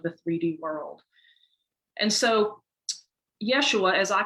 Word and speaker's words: Yeshua: that is his name yeshua was the uh jewish pronunciation of his name that we now know as jesus it's spelled different ways